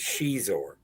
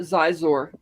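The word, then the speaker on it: Xizor: The name of the character is Shizor. Is that how it's pronounced? Yeah. Who knew? With an X. Yeah. Yeah. I always as a kid I always just pronounced it Zizor because So did I.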